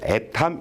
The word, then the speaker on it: atm: 일 때 애탐 이렇게 읽으면 됩니다.